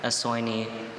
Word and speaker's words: essoinee: Okay, essoinee.